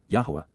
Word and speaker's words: Yahowah: are upright and correct, and therefore acquitted, Yahowah, Yahowah, the proper pronunciation of the name of Eloah, God as